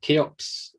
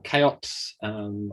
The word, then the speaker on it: CHEOPS: So as Roger said, I'm going to talk to you about Cheops or Cheops. I've heard both pronunciations from different members of the consortium, and it really is quite exciting to be talking to you about this mission.